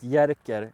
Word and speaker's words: Jerker: It's pronounced Jerker in Swedish, but it's spelled Jerker.